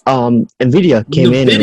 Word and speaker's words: Nvidia: I went to Google and they said that's how you pronounce it, Nvidia.